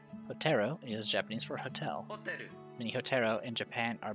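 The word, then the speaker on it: ホテル: Would you like to hear pronunciation again? Hoteru. Hoteru is Japanese for hotel. Hoteru.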